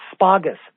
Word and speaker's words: asparagus: And he goes, oh, if you're in New Jersey or grew up there, that's how you pronounce asparagus.